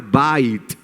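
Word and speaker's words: בית: baná viene la palabra bait en hebreo, que es casa. ¿Cómo se dice casa en hebreo? Bait. ¿Sí? Algunos dicen, ¿no se dice bet? No, bet es en forma de constructo.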